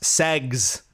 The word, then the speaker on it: SX: SX and it's pronounced segs. S E Gs to get it past the Tik Tok filters, etc.